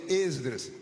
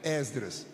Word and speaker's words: Esdras: obreiros muita gente pronuncia exedras se você puder pronuncie com o e aberto Esdras mas se disser esdr